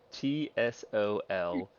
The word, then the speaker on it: Tsolenka: No, sorry, TSOLENKA. It's pronounced Tsolenka.